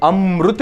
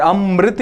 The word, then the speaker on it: अमृत: कहीं पर इसको री बोलते हैं, कहीं पर इसको रू बोलते हैं।